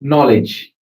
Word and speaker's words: knowledge: So we don't have we don't pronounce k. Knife knowledge new right?